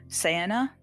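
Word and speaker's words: Ciara: cara p-a-r-a and uh i think it's pronounced uh sienna sienna c e a r a para and sienna human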